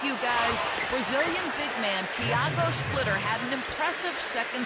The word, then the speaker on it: Thiago: But he says the pronunciation of his first name is closer to Thiago, not Tiago.